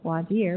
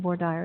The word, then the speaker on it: voir dire: That is spelled V-O-I-R-D-I-R-E. These are 2 French words, and they correctly pronounce voir dire, but in Texas we pronounce them voir dire, so a little trivia about pronunciation.